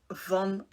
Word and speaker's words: van: you all it's Vincent van Gogh this guy you pronounce it as Vincent Von not Van Gogh then we also have